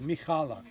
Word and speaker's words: Mihalek: Yeah, where you pronounce that Mihalek. Yeah. See, that CH is a H.